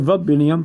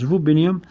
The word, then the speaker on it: rubidium: Some will pronounce it rubidium, but it's rubidium, which is capital R-U-B-I-D-I-U-M.